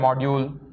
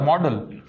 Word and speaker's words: model: are you using a word called module is it modular model it is model okay so you should pronounce it as model okay i will explain